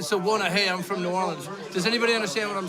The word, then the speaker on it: New Orleans: He said New Orleans. I don't know. Yeah, I said New Orleans. Yeah, it's Nolans.